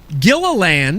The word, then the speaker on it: Gilliland: to put this guy at the end, Gilliland. You nailed it. Thank you. You nailed it. I had to break out the syllables on my notes.